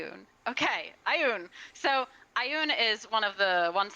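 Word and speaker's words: Ioun: i une i un okay i un so ayun is one of the ones that's uh that's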